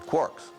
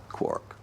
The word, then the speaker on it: quark: how to spell it I thought maybe K wo RK but then perusing James Joyce's Finnegan's Wake as I do once in a while I noticed this the line three quarks for muster mark and I thought three after all that's very important number four quarks and maybe I should spell it quar k while guilmon believed quarks